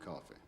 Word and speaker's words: Coffey: Your name is John Coffey. Like to drink, only not spelled the same.